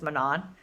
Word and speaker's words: Manon: I just learned that it was Manon, like literally minutes ago.